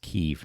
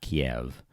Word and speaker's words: Kyiv: I guess that's pronounced Kyiv now, not Kiev.